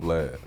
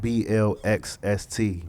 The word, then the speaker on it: Blxst: Do your homework, old Blxst.